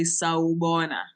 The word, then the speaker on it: sawubona: So please put on your microphones and say sawubona.